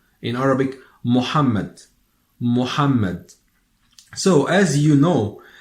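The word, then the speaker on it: Muhammad: the word the very familiar name in Arabic Mohammed Mohammed so as you know in in the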